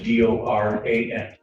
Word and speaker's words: Doran: Spelling on the last name is D-O-R-A-N. And it's pronounced Doran? Doran.